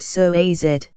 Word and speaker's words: psoas: It's often called the mighty psoas, pronounced psoas, for the many important functions it plays in the movement of your body.